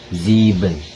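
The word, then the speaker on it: sieben: tujuh tujuh angka 7 ziben itu dibacanya sebagai Z di di awal kata berbeda dengan jika di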